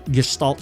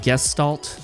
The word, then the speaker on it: Gestalt: like to call the gestal factor and uh that's the word that looks like gestal but I think it's more properly pronounced gestal with a sort of H sh sound in there I am half